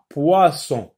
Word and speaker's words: poisson: Où se trouve le son wa? Dans la première syllabe ou dans la deuxième syllabe? Poisson, poisson. Donc, dans la première, et pour cela, on retient donc la première. Poisson, donc c'est wa.